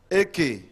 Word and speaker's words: Eke: Chairman, my name is Eke. Chairman, that Eke is spelled E-K-E.